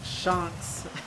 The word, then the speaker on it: ShownX: It's actually pronounced ShownX.